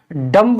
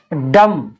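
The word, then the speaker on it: dumb: बाद क्या आया है बी तो इसको हम डंप नहीं पढ़ेंगे इसको हम क्या पढ़ेंगे दम क्या पढ़ेंगे दम एल ए एम बी एल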